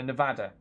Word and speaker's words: Nevada: a pass okay so proper pronunciation is a short a so Nevada like that but it